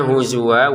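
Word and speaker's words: هُزُوًا: Untuk huzwa kita bacanya huzwa, wawunya ini panjang 2 harokat karena kita berhenti ya.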